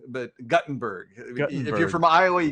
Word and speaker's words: Guttenberg: know good little town of guttenberg right not gutenberg but guttenberg if you're from iowa you got to pronounce it correctly it's guttenberg are there two t's in it uh just